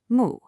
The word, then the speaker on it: 目: This is mu, pronounced mu, and it means eye.